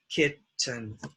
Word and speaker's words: kitten: And the two syllable, but stress here, makes it short, kitten.